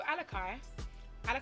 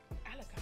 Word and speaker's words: Alicai: to pronounce it as Alicai, because I wanted to say it as Alicai, because I'm like, Alicia, kind of like Alicia Keys.